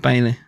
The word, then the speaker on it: Bailey: of B what baile it is kind of Bailey that is how you say it unless it's like